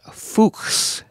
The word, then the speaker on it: Fuchs: is named after a German botanist named leonart fuks f c HS so it should be like